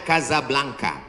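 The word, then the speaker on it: Casablanca: Ibu kotanya tulisannya Casa Belanca. Cara bacanya Kazablanka.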